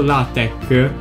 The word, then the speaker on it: LaTeX: usate sempre le protezioni latex scritto anche la tracks pronunciato la tec è nota la sito